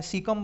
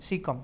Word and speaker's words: caecum: वहाँ ऊपर आपने देखा था जो अंधनाल यानी कि इसको आप कैकम बोल सकते हैं, कैसम बोल सकते हैं, सीकम बोल सकते हैं, जो भी आप इसका उच्चारण करें, CAECUM, सीकम। ठीक है, इसको बोल सकते हैं अंधनाल को।